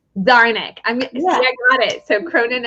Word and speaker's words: Czarnik: The C is silent. Czarnik.